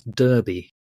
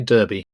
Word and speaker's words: Derby: the M5 um and the final one Derby which you might pronounce Derby I don't know is it D RB why yeah okay yeah would you say Derby I would say Derby uh that's a cheese